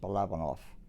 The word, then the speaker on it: Balabanow: it's be like boy a l a b a n o w pronounced bolovanov all righty and how